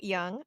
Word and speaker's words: Jung: If for some reason you are trying to figure out who I'm talking about, it is actually pronounced Young and not Jung, as it would look like.